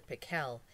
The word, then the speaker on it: Pickle: pickle actually his name was dr. pickle with the accent on the second syllable but that wasn't why everyone called him dr.